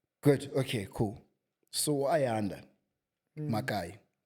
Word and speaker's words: Makayi: H or something, but the K is pronounced as if there's an H there. So, it's Makai.